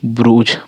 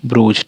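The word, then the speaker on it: bruise: उ का उच्चारण देख सकते हैं आप इसका उच्चारण हो रहा है फ्रूट और बी आर यू एस टी ब्रूज ब्रूज ठीक है ब्रूज एफ एल यू D Freud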